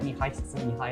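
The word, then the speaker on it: Mihaly: Mihail, and I So don't want to he bother was one of our pronouncing his last name.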